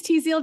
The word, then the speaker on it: Tzield: 1, there's a new drug out, FDA approved, Tzield. I'm getting the name wrong, but no, it's right. It's Tzield.